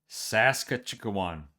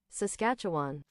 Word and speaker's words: Saskatchewan: Saskatchwan. Saskatchewan. Saskatcha. Sass. All right. One thing about me, I want to mispronounce words all the time.